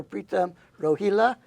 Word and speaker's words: Pritam Rohila: some semblance of Enlightenment none other than Dr pram roila did I pronounce it right yes okay and I want